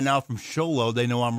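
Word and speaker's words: Show Low: And no, it's Sholow, S-H-O-W-L-O-W. Seriously, Sholow, Arizona.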